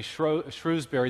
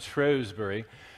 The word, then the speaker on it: Shrewsbury: to lecture in uh what we we americans would say shrewsbury the british pronounce it shrewsbury and it's the birthplace